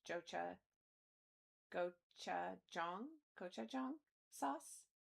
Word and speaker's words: gochujang: Goch- Is that a Is that an H sound? Gochujang? Gochujang? Anybody know how to say that before I put it out on the internet? What is the j- What sound does the J make? I need Lem. I feel like Lem would know how to say this. Gochujang. Okay, I thought it was an H and then I didn't want to be wrong.